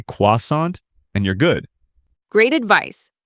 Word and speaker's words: croissant: Americans usually say croissant or croissant. Yes, don't try to pronounce it with a strong French accent. In casual American English, just use the Americanized pronunciation. Just say croissant, and you're good.